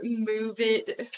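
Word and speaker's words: MuVit: It's their move it foot, which is just dumb because it's spelled M-U-V-I-T, which I don't know.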